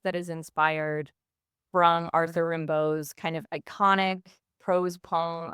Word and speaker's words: Rimbaud: You're in rehearsal for Take Rimbo. Am I pronouncing that right? Yeah, take Rimbo.